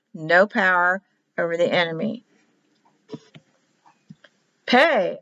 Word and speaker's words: Pe: Pay or Fay. F like in Phyllis.